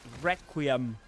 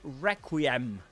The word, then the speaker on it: Requiem: In both pronunciations, however, you do the main accent, the accented syllable is the first one, re, Requiem, and Requiem.